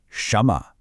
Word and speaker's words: 什么: And finally, to wrap up this phrase, we have the question word 什么, pronounced 什么.